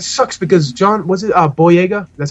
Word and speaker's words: Boyega: But, and it sucks because John, was it Boyega? That's how you pronounce his last name?